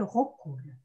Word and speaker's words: Raucoules: oui d'accord en fait vous avez bien de prononcer mon nom c'est raucoules je prends la parole